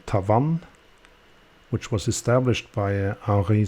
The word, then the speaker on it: Tavannes: For Cyma, that was then Tavannes. You will also find a few Tavannes watches, but mostly from the really old days. And just to note as well, when I say Tavannes, that's the French pronunciation.